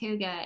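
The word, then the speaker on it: hygge: word is spelled Hy G G but it's pronounced Huga and I've got this book called the little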